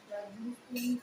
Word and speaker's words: glistened: For visual, we wrote the plantation seemed to glow with a curious mysteriousness, and the rubber trees that glistened with sap. Glistened. The T is silent.